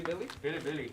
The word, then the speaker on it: Bilibili: Billy? Bilibili. It's actually How do you spell it?